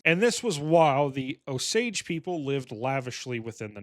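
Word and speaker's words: Osage: Okay, so it's not pronounced oag, it's pronounc pronounced oage. That one actually looks like how it's spelled.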